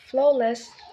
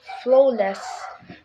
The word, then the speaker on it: flawless: perfect not perfect Flawless lastly in this word the first syllable flow is stress making it Flawless not Flawless so and all the